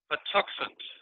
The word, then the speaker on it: Patuxent: fred huffman uh and fred will you please pronounce the name of the river for me for us patuxent the tuscan river keeper and ceo and you